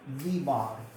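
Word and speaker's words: v bar: इसे कैसे प्रोनाउंस करते हैं, v बार.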